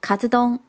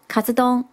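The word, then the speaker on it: カツ丼: 排饭，日文是念作 katsudon， katsudon。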